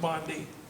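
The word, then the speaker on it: bonddu: in the welsh language it's v-o-n-d-h-u but it's pronounced bondi that those words mean red beetle red beetle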